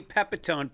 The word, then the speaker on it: Pepitone: My guest today is Eddie Pepetone. Pronounced Pep like he's got a lot of energy and tone like you're not really sure what he's going for tonally.